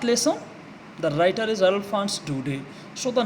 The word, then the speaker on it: Daudet: It is pronounced Daudet, Alphonse Daudet.